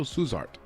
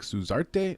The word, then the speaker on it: Suzart: At 265 pounds, we've got Waldo Cortes-Acosta from the Dominican Republic versus Danilo Suzart. I think they pronounce it like Suzarte, almost like with a T-E at the end.